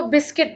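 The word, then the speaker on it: biscuit: होता है इसको हम बिस्किट बोलते हैं क् यहां पर जो आय है ना इसका साउंड हम बोलते हैं लेकिन यहां पर जो यू यू का साउंड नहीं बोलते हैं बिस्किट इसको बिस्किट बोला जाता है बम बम में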